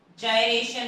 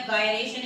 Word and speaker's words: gyration: जायरेशन या गायरेशन, इसको कुछ भी प्रोनाउंस कर सकते हैं आप, GYRATION।